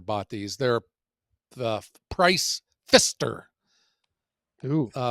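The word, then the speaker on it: Pfister: Uh, they're spelled Fister is spelled P F I S T E R. And anytime I have learned anytime you use the letters P and F next to each other, that adds like another $200 to whatever it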